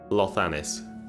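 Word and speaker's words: Llothanis: You can find his house in Clothanis. Where the hell is Clothanis? Lothanis. So I'm pronouncing it in as you would in Welsh. The double L's are Cloth. Lothanis.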